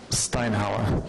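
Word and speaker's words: Steinhauer: How do you say it? Steinhower. I was right the first time.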